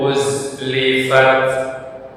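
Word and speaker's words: أُزْلِفَتْ: Perhatikan huruf z. Seperti huruf z, az, iz. Ya, ada suara sofir atau pendesis z. Ini yang membedakan antara pengucapan huruf dzal. Itu dzal. Beda ya. Dengan uz. Ini z. Ada seperti bunyi desisan.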